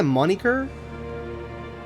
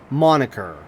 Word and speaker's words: moniker: regardless of the wait I did you say monyer cuz that's how that's how it's spelled but I I don't know how you